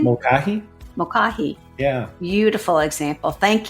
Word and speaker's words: Mulcahy: Mulcahy.